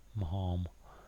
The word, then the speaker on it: Maugham: I think it must be Marm. Marm.